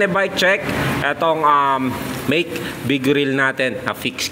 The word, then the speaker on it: Make: ko nung una ito ay wake pero nung chineck koy Dito Ayan make po talaga yan make yung mismong brand niya kasi meron yung road bike na wake e na nagka mali ako ng pronounce no yung Pero ito make talaga eh Ayan So make Vigor